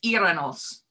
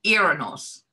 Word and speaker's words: Uranus: ancient Latin she said the actual pronounced neck pronunciation is Iran us because the U has a an accent on it so it's actually Iran us so Iran us was it the Dutch girls said they called